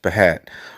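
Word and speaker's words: בַּהַט: the Hebrew Strong's Concordance the Hat pronounced behat from an unused root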